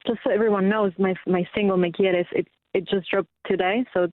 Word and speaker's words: Me Quieres: It's pronounced Me Quieres, which means you love me in Spanish.